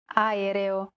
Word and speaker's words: aereo: Even when there are two or more vowels in a row, just pronounce them separately. Aereo.